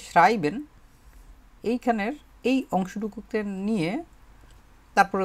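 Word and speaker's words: schreiben: লেখা, শুধু লেখা, এটার যে জার্মানটা, এটা হতেছে শ্রাইবেন বলে এটাকে, শ্রাইবেন। এটা মানে হচ্ছে লেখা। উচ্চারণটা করেন তো, শ্রাইবেন, শ্রাই তারপর হচ্ছে বেন, শ্রাইবেন।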